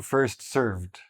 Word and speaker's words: served: First come, first served, right? Very easy to understand how people make this mistake. The D is not very prominent, but that's the correct way to say it.